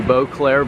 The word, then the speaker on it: Beauclerc: You can see Beauclerc Village. The C is silent, and we are right on San Jose Boulevard.